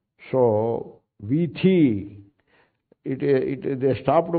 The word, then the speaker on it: वीथी: So here is the same meaning, vithi, not vidhi.